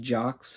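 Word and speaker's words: Jocz: Steve Jocks on drums, rather. I think maybe it's just Jock. The Z is silent.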